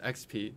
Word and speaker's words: Expii: EXPII is pronounced XP. It's experience points in many people's video games.